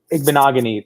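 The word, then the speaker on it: Igbinoghene: Igbenogany, that's how you say it.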